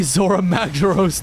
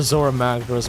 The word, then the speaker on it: Zora Magdaros: It'll be Zora Magdaros. Don't you dare say his name for Zora Magros, man.